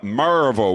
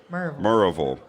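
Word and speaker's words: Maryville: here in maraville we marille no maraville one syllable come on one syllable marville marville now yall how you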